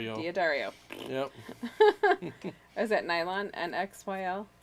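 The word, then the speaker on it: D'Addario: I put Diario? Diodario.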